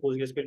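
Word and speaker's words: PostgreSQL: Third third party में कहीं भी आप रिटर्न लिख रहे हो तो पोस्टग्रेसक्यूएल पूरा लिखेगा। अच्छा, व्हाट इज पोस्टग्रेसक्यूएल? अब pronounced as post grace QL.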